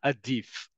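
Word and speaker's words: עדיף: Adif.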